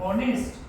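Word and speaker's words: honest: अ मॅन आता सांगितल H silent ऑनेस्ट doughnut प्रोनन्स इट ज दनेस्ट हे काय आहे ऑनेस्ट आहे मग इथं सुद्धा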